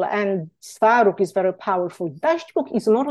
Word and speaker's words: Dadźbóg: This is pronounced Dadźbóg.